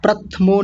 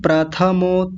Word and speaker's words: प्रथमो: प्रथमो ध्याय प्रथमो नहीं प्रथमो थ को पूरा बोलिए। आप थ को आधा कर रहे हैं।